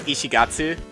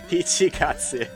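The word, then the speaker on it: 一月: But yeah, so Ishigatsu combined with, or sorry, Ichi! Why am I saying Ishi? They're fucking with me, dude. It is a pun. Ichigatsu.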